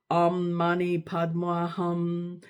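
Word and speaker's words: Om Mani Padme Hum: a mantra such as Om Mani Padma Hum, pronounced by Tibetans Om Man Padma Hum.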